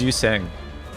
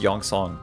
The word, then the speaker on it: Yi: Yeah, it's pronounced It's pronounced Yong. Come on, get it right, guys. Yong. Yong Sang. That's how you pronounce it.